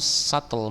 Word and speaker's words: subtle: This is even more subtle. Bacanya apa ini? Subtle ya. Subtle, bukan subtle. Hilangkan behnya tapi jadi subtle gitu ya.